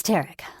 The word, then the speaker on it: Tarek: It's Tarek, like Derek.